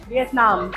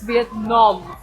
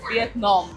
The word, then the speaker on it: Vietnam: And the next stop is Vietnam. Nope, it's Vietnam. That's how you pronounce it. Vietnam.